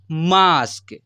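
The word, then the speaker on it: mask: मेरे भाई यहां पर जब ए के बाद एस टी या एस के आए तब तब भी ए का उच्चारण आ से होगा यानी आ से करते हैं ऐसे पढ़ सकते हैं फिर यहां पर देखिए पी ए एस टी इसे क्या पढ़ेंगे पास्ट एम ए एस के मास्क एल ए एस टी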